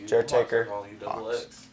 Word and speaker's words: Jertaker: Wait, so is Gauxx pronounced with a silent G and the sound of an H. Yo, Hawks. Jertaker.